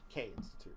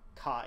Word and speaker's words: Caine: K Institute. C-A-I. But it's pronounced, yes. K Like, it's not like Kai, it's pronounced K.